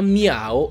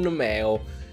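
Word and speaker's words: Meowth: è bella mia o il pokémon si chiama mia o e non meo diciamo che da una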